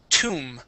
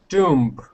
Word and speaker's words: tomb: um is Tom okay yes the B is silent but that o here makes an oo sound this is Tom try that Tom okay the B the